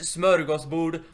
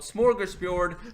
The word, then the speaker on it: smörgåsbord: Yeah, It's just- pronounced smörgåsbord. Like hearing those words all the time, you just wanna scream, "Shut up! It's smörgåsbord, not smorgasbord.